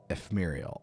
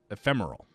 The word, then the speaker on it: ephemeral: ignorance redemption is Muriel I can never pronounce that I think I think it's supposed to be see here Eph eeehm er L so that's Muriel I think it's supposed to be if ephemeral there we go ephemeral Wow I don't